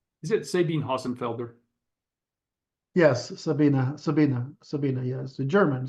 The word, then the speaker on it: Sabine: Yes, Sabina, yes. The German, Sabina, so you pronounce the E.